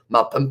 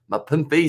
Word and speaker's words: Mapimpi: Makazole, Mapimpe, I believe it is. Mapimpi, sorry. Having no shocker.